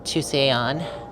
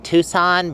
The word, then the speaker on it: Tusayan: And Tusayan. Greenway Trailhead. Oh, there it is. That's how it's spelled. A lot of people think I'm saying Tucson, but it's Tusayan.